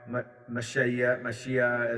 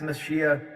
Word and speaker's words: Mashiach: the second coming of Christ, or the Messiah, Mashiach, as it's pronounced here, and going beyond the whole, the